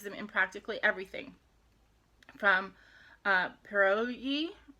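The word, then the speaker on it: pirozhki: From pierogi, I think it's pierogi, even though it's spelled Pirojki. but I think pierogi is the correct, unless I'm mixing it up with something Polish or something.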